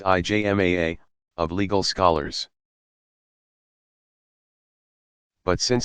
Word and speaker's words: ijma: the local community or to the consensus pigma pronounced ijma a of legal scholars but since some questions were